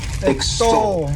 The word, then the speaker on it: extol: is extol to extol this word has two syllables and the stress is on that second syllable extol and what it means is